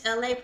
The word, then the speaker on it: Elay: My name is Elay, pronounced like LA, like the city.